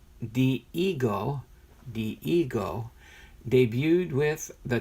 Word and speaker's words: Dihigo: maestro the Cuban born Diego pronounced the ego the ego debuted with